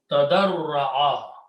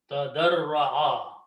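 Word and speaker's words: تَضَرَّعَ: And the middle letter is Ra, so put a shadda. So this word is pronounced tadarra'a. Tadarra'a.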